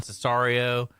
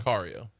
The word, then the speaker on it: Sicario: In the past, he's done Cesario. He's done Prisoners. Sicario or Cesario? Sicario.